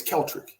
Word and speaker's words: Keltrick: My name is Keltrick. Very simple. Keltric. There's no D. There's no N.